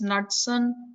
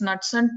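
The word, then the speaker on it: Knudson: So that hypothesis is called as Knudsen hypothesis. The K is silent. I don't know when the K is silent, why they add it. It's called as Knudsen two-hit hypothesis.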